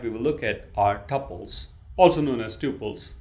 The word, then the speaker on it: tuple: The second product type we will look at are tuples. also known as tuples. There are different ways of pronouncing it. I prefer tuple.